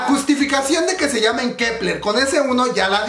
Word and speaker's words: Kep1er: función tiene el uno ahí porque se sigue pronunciando quebrar la justificación de que se llamen kepler con ese uno ya la vimos es porque